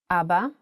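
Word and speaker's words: אבא: Also, the word Abba has kamats under two of its letters. Abba. And in print version, Abba.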